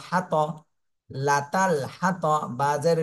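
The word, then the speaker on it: الحطب: কোনটা এখানে নেই এজন্য সাকিন দিয়ে পড়তে হবে আর সাকিন দিলে বা কলকলা হয়ে যাবে হাম্মা লাতাল হাতব প্রথমে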